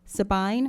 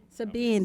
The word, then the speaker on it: Sabine: boards in a range of volunteer capacities, including Sabine. Am I pronouncing that correctly? No, ma'am. Oh, could you correct me then? How about Sabine? Sabine, thank you.